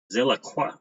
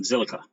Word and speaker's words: Zilliqa: Zilliqa.